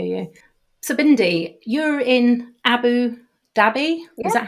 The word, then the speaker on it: Abu Dhabi: So Bindi, you're in Abu Dhabi. Yeah. Is that how I pronounced that correctly? Absolutely, yes, Sarah. I am in Abu Dhabi at the moment.